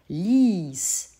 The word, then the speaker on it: ließ: Le prétérit, par contre, ließ. On entend que ce I est long. Comment écrit-on un I long en allemand? On le fait suivre d'un E.